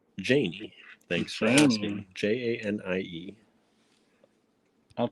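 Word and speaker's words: Janie: them in every shape they had so it's pronounced janey thanks for asking j-a-n-i-e i'll try to remember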